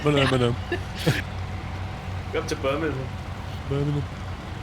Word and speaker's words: Birmingham: Yeah, Americans don't say Birmingham, did they? They say Birmingham. Hang on, how do they say it? Birmingham. Birmingham. They say ham. They overpronounce the ham quite a bit.